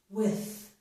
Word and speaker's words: with: Most Americans pronounce it with the voiceless TH, with, but it can be pronounced with the voiced TH.